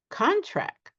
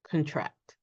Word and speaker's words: contract: So they are a noun if we stress the first syllable, but they turn into a verb if we stress the second syllable.